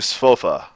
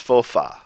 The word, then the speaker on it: spofa: sofa it's very important that you don't turn this into sofa cuz here the English word sofa sofa it's got that uh at the end it's got the uh we don't do that pronunciation is always regular if it was pronounced spofa this is how it' be spelled but it's not it's spofa spofa always the ah very very important to